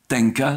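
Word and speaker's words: 天下: appelé aussi le Japon donc Tenka, c'est-à-dire la prononciation japonaise de Tianxia.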